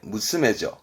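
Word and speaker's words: 娘: 우리 시험적으로는 훈독에 이게 무스메죠. 그렇죠? 딸을 의미했던 무스메입니다. 무스메. 그러면 소낭 쓴 건 뭐냐면 발음은 코무스메.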